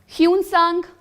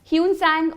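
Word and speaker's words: Hsuan Tsang: ह्यूनसांग कौन है ना, कई जगह कुछ और भी लिखा होता है, जिनजियांग लिखा होता है ना, ठीक है।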